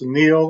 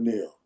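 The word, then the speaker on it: NIL: How many uh is the is that pronounced Neil on a consistent basis? Yes. Name, image, and likeness. So they they do call it Neil. Everybody calls it Neil.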